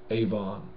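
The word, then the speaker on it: עָוֹן: for yourself avo in iniquity that's how you pronounce iniquity in Hebrew Avon all right uh okay another one fornicators biblically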